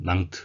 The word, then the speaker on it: Nantes: 나가실 것은 발음 인데요 nantes 프랑스의 낭트 란 도시죠 영어 식의 발언은 난 까 되겠구요 우리말 외로 들어온 우리우리 시기에 발음은 낭트 라고 해서 낭트 시 그런데 브러쉬 발음은 뭐 정확하진 않지만 놈 이런 시기에 프랑스 발음이 되어 있습니다 그리고 온간 보면은